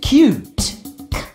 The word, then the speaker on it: cute: Ute cute, ute cute.